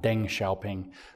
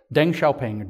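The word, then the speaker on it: Deng Xiaoping: pun here in English I'm trying to train myself to say his name what closer to correct verus dung shaing not Den shaing but Deng shaing dong shaing is actually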